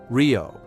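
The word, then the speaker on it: río: The single R at the beginning of a word is also rolled but softer. River Rio. Rio.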